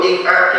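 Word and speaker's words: إقعاء: Ik'ah. Bisa diucapkan. Ik'ah. Hamzah, alif, ya, qaf, ain, kemudian hamzah, ik'ah.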